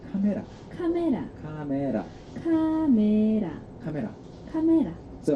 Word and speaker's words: 카메라: But if you pronounce it too much like the English word camera, no Korean person will really think that you're speaking Korean.